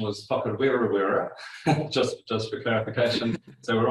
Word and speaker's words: Whakarewarewa: All right, so that forest pronunciation was Whakarewarewa, just for clarification.